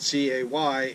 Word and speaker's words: Cay: Even though it's spelled C-A-Y, it is Castaway Cay.